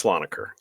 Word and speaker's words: Slonaker: you were asking uh about my surname it's saloner Salon I'm sorry I'm sorry I was trying to put the wrong whatever pronunciation saloner okay go ahead but um I no it